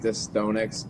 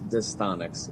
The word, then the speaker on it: Distonix: So can you clear up for us right off the bat the pronunciation? Is it Distonix? Yes. I've had a lot of people say like Distonix. It is Distonix.